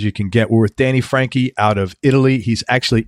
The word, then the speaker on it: Franchi: background on Danny and his last name it's Frankie but it's spelled f ra n CH is when you start